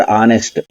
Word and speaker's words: honest: In this sentence, H is silent when the word honest is pronounced.